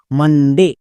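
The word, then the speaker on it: Monday: এবার উচ্চারণ করো পুরোটা, মানডে, মানডে।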